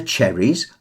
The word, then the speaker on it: cherries: The cherries are tasty. Emphasis on che and te.